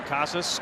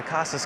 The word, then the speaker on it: Casas: in kasus or Cass so you said it's either way you can pronounce the last name yeah either way I I I don't get too picky with it uh kasas casses I've heard it all different ways um I joke around